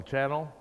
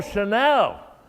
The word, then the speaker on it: Chanel: called what they call channel ladies tell me out what channel Oh Chanel oh okay I mispronounced it well we did the